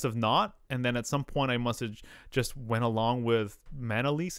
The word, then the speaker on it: Manalese: is not many people, it's pronounced Manalese. Manalese. And then, you know, things change, right? Pronunciations change. But my mom got a job. This is the story that I know. My mom got a job here and they just pronounced her name Manalese. Which is one less syllable and not pronounced at all similar at all.